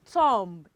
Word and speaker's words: thumb: Okay, we have T-H-U-M-B. It is not thumb, it is thumb.